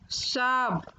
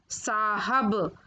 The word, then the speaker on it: साहब: उच्चारण, उच्चारण अशुद्ध है, उच्चारण शुद्ध रूप। रविंदर, रविंद्र। साब, साहब।